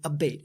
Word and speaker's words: Abate: And it's pronounced Abate, which Abate.